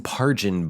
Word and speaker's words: Pargin: I think that's how you pronounce his last name. like a J instead of a G. Jason Pargin book.